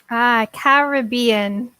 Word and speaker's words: Caribbean: We have different pronunciations. Caribbean is the pronunciation.